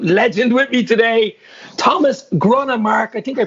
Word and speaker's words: Gronnemark: got an absolute legend with me today thomas gronin mark i think i pronounced that right yeah that's totally right dave